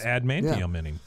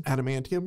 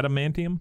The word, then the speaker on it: adamantium: stuck into the ceiling he's got all that ad manum inning yep did I say that correctly adamantium yeah adamantium yeah I believe I might be saying it